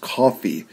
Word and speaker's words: Coffey: It's looks like Kofi, but it's pronounced coffee.